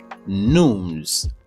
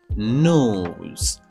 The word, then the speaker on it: news: Li prononcer comme news. Mot ça, li gen seul syllabe la dedans. Et son nou jwenn la dedans, c'est un son ou. OK? Donc, li prononcer comme news.